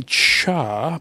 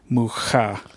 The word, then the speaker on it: Mucha: it'll be argued both themes so it's alphonse mucha o rect prints but I think you're probably right um yeah you know I used to say ha but he's not Hispanic he's check and so